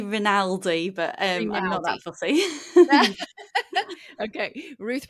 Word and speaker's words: Rinaldi: forgot to double check is your last name raldi is that how you say it I say ronaldi but that fussy okay